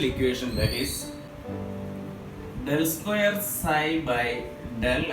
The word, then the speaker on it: psi: Here the wave function, that is wave functions, this is psi, psi, it is pronounced as a psi.